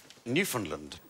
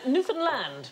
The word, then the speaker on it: Newfoundland: Newfoundland. No. I'm going to have to shoot you now. No, it isn't the correct pronunciation. Newfoundland. Hey, enough violence on this show. Yeah. Newfoundland is the correct pronunciation, and in 1876, a